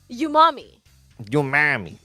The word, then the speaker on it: Umami: no, it's like when I look at my mom, and I say you are my mommy.